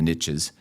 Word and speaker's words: niche: that saying, you know, the riches is in the niches and, you know, that's how the Americans say the word niche.